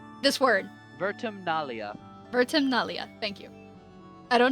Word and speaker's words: Vertumnalia: Why Vertuminalia? This word. Vertumnalia.